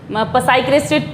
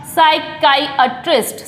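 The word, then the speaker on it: psychiatrist: पी तो इसको पता है कि सबका साइलेंट रहता है, इसमें पी। साइकिट्रिस्ट तो नहीं बोला जाएगा, साइकेट्रिस्ट बोलते हैं ज़्यादा, साइकेट्रिस्ट, साइकेट्रिस्ट, लेकिन ये साइकेट्रिस्ट नहीं होता है। इसका जो प्रोनाउंसिएशन है, राइट प्रोनाउंसिएशन जो है आपका साइकाइट्रिस्ट, साइकाइट्रिस्ट।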